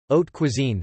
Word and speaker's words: haute cuisine: Haute cuisine, French, literally, high cooking, pronounced haute cuisine or grande cuisine, refers to the cuisine of certain kitchens.